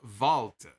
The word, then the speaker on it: Walter: like it sucked turtle head says walter is pronounced valtte yes i know that but i i sound